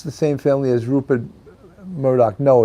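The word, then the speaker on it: Murdaugh: of South Carolina and their name is spelled it's pronounced Murdoch but it's spelled m-u-r-d-a-u-g-h so you would think it should be pronounced Murda like m-u-r-d-a-u-g-h Murda but it's pronounced murloc same thing with with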